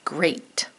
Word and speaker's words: great: one great right here so you say it hear it spell it g the rule breaker r e a t isn't that great now this